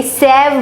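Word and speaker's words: save: इस स्पेलिंग को आप यहाँ नहीं छोड़ोगे, ये सैव बन जाएगा। आपको पता है ए का ओरिजिनल साउंड लिखना है तो हमें इस कॉन्सोनेंट के बाद ई लिखना पड़ेगा, तभी ये ओरिजिनल साउंड बनेगा।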